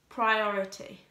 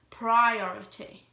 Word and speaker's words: priority: P R I oh oh I T y priority but it's not Priora T priority the I PRI is pronounced as a Y pry not priority priority okay so the British English way of saying